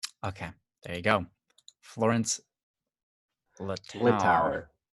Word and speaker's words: Littauer: Florence Littauer. Littauer. So the tower in French.